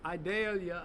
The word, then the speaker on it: Idalia: a couple of days so idalia I'm I'm told rhymes with videlia onion just so we can keep